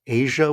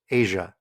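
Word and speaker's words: A'ja: You said Aja Wilson. Yes. I believe that's pronounced Asia Wilson.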